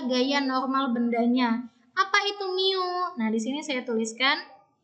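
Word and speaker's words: μ: Apa itu mu? Nah, di sini saya tuliskan. Ini cara bacanya mu ya.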